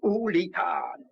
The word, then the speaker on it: Julian: Ça se prononce Julian.